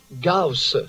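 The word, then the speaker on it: Gauss: C'est la courbe de ça s'écrit G A U S S S. On prononce ça comment ? E Gos G la courbe de G.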